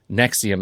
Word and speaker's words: NXIVM: But if you look for Allison Mack in Nexium, and it's spelled NXIVM, this self-help group, you'll find all